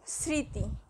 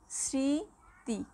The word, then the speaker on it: স্মৃতি: এর উচ্চারণ হয় না, শব্দের শুরুতে ম ফলা থাকলে ম ফলার উচ্চারণ হয় না, যেমন স্মৃতি স্মৃতি। দেখো স্মৃতি এটা স্বয়ের সাথে ম রয়েছে কিন্তু মটা কিন্তু উচ্চারিত হচ্ছে না।